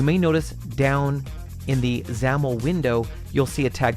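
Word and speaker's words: XAML: page dot zamel yep that is pronounced zamel we'll talk about that more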